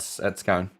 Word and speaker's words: Scone: So it's Scone. Scone is how you pronounce the town.